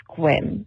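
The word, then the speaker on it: Sequim: But how you pronounce that area is actually squim. Yeah, it sounds a lot different than what it actually is, but I just wanted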